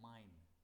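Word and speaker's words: mein: इश्क का possessive article होता है माइन। मनी मैं आपको बाद में बताता हूँ, पहले आपको इसकी पहले प्रोनाउंसिएशन देखो। ई आई को आई कहते हैं, तो ये आई के ऐसे माइन बनेगा, माइन।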